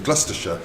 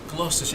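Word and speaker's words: Gloucester: they they're areas but we tend to locally pronounce them as sh so it ends up being gluster gluster it sounds like Harry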